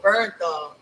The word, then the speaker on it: Bernthal: Bernthal. Bernthal.